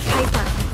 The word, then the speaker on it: Piper: The name's Piper. Rhymes with Viper.